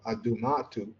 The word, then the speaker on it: Adumatu: namely the fact that duma was originally pronounced aduma or adumatu with the initial possive sound which is how it appears in the inscriptions of the Assyrian kings.